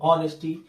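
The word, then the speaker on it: honesty: ठीक है, अब यहां पर लिखा तो हॉनेस्टी लग रहा है ना, एच है ना, लेकिन एच क्या है? साइलेंट। तो आवाज आ रही है कहां से? ऑनेस्टी।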